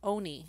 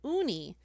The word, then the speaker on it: Oni: into his forehead and it was Owney and like however the English translation said Unni so I've been saying it wrong all these years all right next